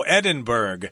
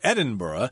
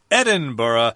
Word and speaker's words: Edinburgh: word Edinburgh of course you're gonna think Oh Edinburgh I've heard of Pittsburgh I've heard of Emmitsburg but in Scotland you're supposed to say Edinburgh I can't think of any other place where